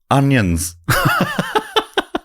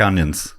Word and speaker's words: Onions: And personally, I think that arse belonged to the best named editor of the lot, Oh, Charles Talbot Onions. spelt like the Spelled like onions.